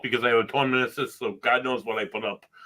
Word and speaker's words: meniscus: Meniscus, Mike. Meniscus. All right, I'm just checking, double checking. You keep saying different. Meniscus. Yeah. Rhymes with kiss.